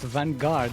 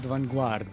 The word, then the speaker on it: Vanguard: It's pronounced vanguard, not vanuard.